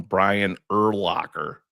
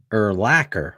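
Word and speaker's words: Brian Urlacher: we have people in Chicago still calling him Brian ER Locker for Christ sake and he's a Hall of Famer how do you pronounce it ER laacer right yeah like linebacker eracer have you seen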